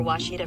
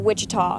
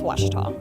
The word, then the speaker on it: Ouachita: oh Akita looking for Washita Baptist University back in Texas everybody pronounces it Wichita but really it's Ouachita Ouachita Washington how would